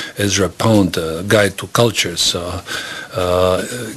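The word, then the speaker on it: Kulchur: pond a guide to cultures uh guide to culture it's spelled k-u-l-c-h-u-r you may want to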